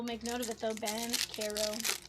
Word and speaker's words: Banchero: Ban Carol. Ban Carol. Not Berero, but Bero. Kelby White and Kuminga.